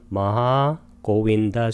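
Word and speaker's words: Mahāgovinda: 빨리어로는 마하고빈다 수타입니다. 마하 할 때 하를 길게 발음하고 고빈다 할 때 오하고 에는 장음으로 발음해서 마하고빈다 수타로 발음합니다.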